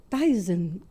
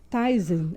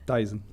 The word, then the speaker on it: Theisen: Hoje nosso convidado para essa mesa é o Jean Carlos Tysen. Falei errado. Certo. Ty. Mais ou menos. A pronúncia tá Taisen.